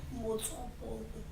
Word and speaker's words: Motswapong: Do tell me, how do you pronounce your last name? Motswapong.